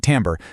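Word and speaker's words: timbre: Well, the scientific word for this fingerprint is timber, and it's pronounced tambber.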